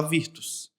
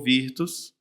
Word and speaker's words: Virtus: E ele falou: "É, todo mundo vai falar Virtus, porque é assim que se lê em português." Eu falei: "Então, legal, a pronúncia, então vai ficar Virtus". E ficou Virtus.